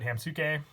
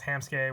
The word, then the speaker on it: Hammsuke: pronunciation for ham ski a lot of me and my friends always called it ham suit Kay for the longest time pretty sure I went off of the anime and they said ham ski so I'm gonna go with that before the deck profile but - I have a tam suit game or ham ski I really do believe it's ham ski with the pronunciation but without further ado